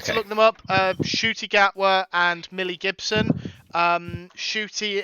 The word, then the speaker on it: Ncuti: look them up, Shooty Gatwa and Millie Gibson.